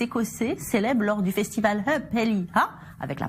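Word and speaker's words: Up Helly Aa: Déguisés en guerriers vikings, ces Écossais célèbrent lors du festival Hupelliha, avec la prononciation, s'il vous plaît, l'histoire des vikings de la région, et ce depuis plus d'un siècle.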